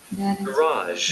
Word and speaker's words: garage: Garage. கராஜ். Garage. Garage. Garage. கொஞ்சம் வித்தியாசமா இருக்கும். Garage. Garage. கேராஜ். Garage. இது கராஜ். Garage. Garage. ரெண்டு சிலபிளுக்கு முதல் சிலபிள் ஸ்ட்ரெஸ் கொடுக்கல பாருங்க. கேன்னு விட்டாங்க இவங்க. கே ஆரம்பிக்கிறாங்க பாருங்க. Garage.